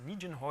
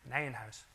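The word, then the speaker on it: Nijenhuis: a word on pronunciation so I often hear this pronounced as n ho or something like that okay so I think Albert nanh house was a Dutch mathematician and so it's called Nan house um okay so uh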